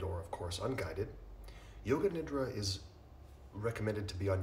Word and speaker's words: nidra: Many of you have heard the term yoga nidra. So nidra means sleep, roughly speaking. Some people say nidra. I've heard many Sanskrit scholars pronounce it nidra, but I'm sure you can say it either way. It's acceptable.